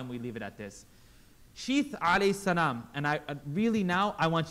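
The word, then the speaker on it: شيث: Sheath. Say it properly for me. Bring your tongue out, everyone. Sheath.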